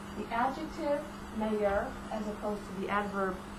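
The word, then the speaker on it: meilleur: it in French either we use mayor this is better in the feminine form major pronounce the same plural would be mayor you follow feminine mayor all four are pronounced the same and that's better adjective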